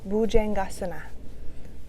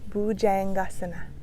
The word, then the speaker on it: Bhujangasana: Bhujangasana. Bhujangasana.